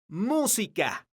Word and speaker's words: música: Por ejemplo, la palabra música tiene acento ortográfico, es decir, una tilde en la letra U, porque la sílaba tónica de esta palabra es mu.